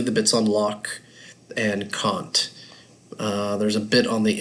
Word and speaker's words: Kant: There's quite a bit on Immanuel Kant, or sometimes called Kant, the way you pronounce it, is based on what country you're in. Americans call him Kant. Brits call him Kant.